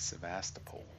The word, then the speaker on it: Sebastopol: Sebastopol, that's how you say it.